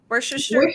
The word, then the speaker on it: Worcestershire: with three ingredients oh that makes vodka worcestershire wooster how do you say that worcestershire for sure thank you that's hard to say